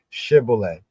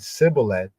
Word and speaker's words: shibboleth: They said to him, please say shibboleth. If he said sibboleth, because he could not pronounce it correctly, they seized him and killed him at the fords of the Jordan.